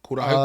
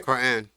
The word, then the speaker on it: Quran: Quran. Did I say it right? Quran.